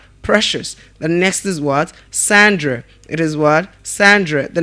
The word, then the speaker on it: Sandra: Now the letter A in the name there is giving us a schwa sound. So we're pronouncing it as Sandra and not Sandra. It's not Sandra, but Sandra.